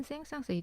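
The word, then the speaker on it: Saint-Saëns: 말았던 사람이 사실 이 생상 쓰름 생상 혹은 생상스의 a2 이름 헷갈리시는 분들이 많아요 그쵸 한국에서는 흥이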